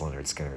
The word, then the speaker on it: Lynyrd Skynyrd: So definitely I think you must listen to Pronounce Leonard Skinner before you die.